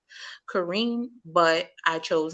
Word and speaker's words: Karyne: And it's supposed to be pronounced Kareem, but I chose not to because of where it originated.